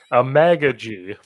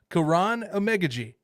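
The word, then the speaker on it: Amegadjie: That is the pronunciation I have from the Athletic. Because Is I don't want to offend the guy if he ever, for some reason, stumbles upon this. I no, don't want to offend him. yeah, unless the Athletic is wrong, that is how you pronounce his name.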